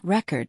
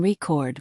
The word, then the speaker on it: record: For example, we stress the first syllable in record, noun, but the second syllable in record, verb.